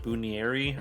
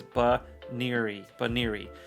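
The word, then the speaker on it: Banette: So the pronunciation today is Baneri, and I don't know why I've been pronouncing it like Bunieri or something like that. I haven't been pronouncing it perfectly accurate, but it's Baneri.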